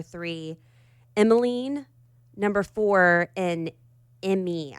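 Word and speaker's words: Emei: Emeline number four, and Emmy, I think is how you say her name, e m e i.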